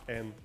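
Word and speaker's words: 円: fact uh the yen in japanese is just n oh yeah it's pronounced then yeah yeah but it's written yen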